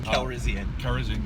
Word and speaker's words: Calrissian: We know we're going to see, I always get his name wrong, Lando Calrissian. Calrissian, yes.